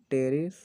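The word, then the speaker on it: Pteris: कि पीसे हो गया टेरिस पेरिस इसको बोलते हैं पी साइलेंट यहां पर रहता है और पढ़ें केडी से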